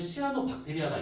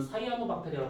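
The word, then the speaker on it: cyanobacteria: 당시에 스트로마토 라이트라고 하는 시아노 박테리아가 있어요 그 지금은 사이에모 박테리아가 발음하는데 모든 상관없어요 그런 것들에 의해 가지고요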